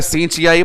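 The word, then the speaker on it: synechiae: Term अपने पास है सिनेकी, जिसके जो मन आए वैसा उच्चारण करें। कोई बोलेंगे सिनकियाई, कोई बोलेगा सींचियाई, पर सिंपल नाम है सिनेकी, यूटेराइन सिनेकी।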